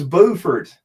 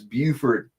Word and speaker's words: Beaufort: See, it's Beaufort in South Carolina. It's Beaufort in North Carolina. You got to make sure you say it right, which is odd for me because I'll usually mispronounce everything.